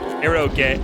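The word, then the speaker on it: エロゲ: It's pronounced eroge. Oh, yeah, right. This is Japanese.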